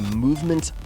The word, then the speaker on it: MVMT: This episode is brought to you by Movement Watches. That is spelled MVMT.